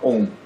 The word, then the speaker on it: Om: vai pronunciar a sílaba Om. Então ele vai pronunciar o Om, que foneticamente ele pode ser dividido em A, U, o nasalado M, né?